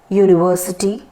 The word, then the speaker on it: university: is a consonant sound for example in all these words like university european uniform the starting sound is y o o which is of y that is your u again